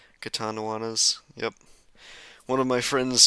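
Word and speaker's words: Catanduanes: Katanawanas. Yep. One of my friends told me how to pronounce that. I would be saying it Katanduans, like Katanawanas. Samar instead of Samar.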